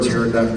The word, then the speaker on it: pterodactyl: Why has no one ever heard a pterodactyl go to the bathroom? Because the P is silent.